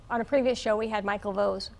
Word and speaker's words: Vose: were It rhymes with Rose. Rose Vose. And Rose, they- and Vose, it- and it was- Vase, Vase, everything else.